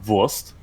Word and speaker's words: Wurst: But then I have to ask you to actually pronounce it correctly. It's Wurst.